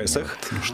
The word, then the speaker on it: Песах: Извините, видите, вот ударение. Песах.